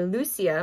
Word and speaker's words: Lucia: And then the other one is Sister Lucia. Or Lucia, my husband went to Portugal for a World Youth Day, and they were telling him that that's how you say it, presents Marian Consecration for Kids.